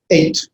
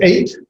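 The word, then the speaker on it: את: And it's just simply pronounced 8. So it's 8.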